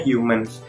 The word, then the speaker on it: HMNS: ini gitu loh mungkin satu mns nah dibacanya Humans nah Kayaknya aku mau